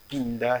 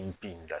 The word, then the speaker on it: Mpinda: De prime abord, mon nom, c'est pas Pinda, c'est Mpinda. Ça s'écrit Mpinda.